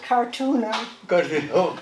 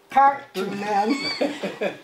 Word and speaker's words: Karttunen: I say, Karttunen is like Kennedy. It begins with a K. It has 3 syllables. The stress is on the first one. Think about it. Kennedy, Karttunen. and they learn.